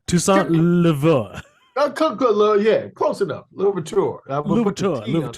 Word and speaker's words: Toussaint Louverture: Toussaint Louverture.